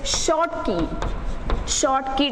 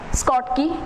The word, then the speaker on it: Schottky: Next is short key defect. You can also pronounce it like Schottky or short key defect.